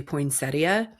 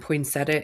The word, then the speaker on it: poinsettia: like you know the the pronunciation of poinsetta is actually poinsettia and poinsetta is the accepted um pronunciation.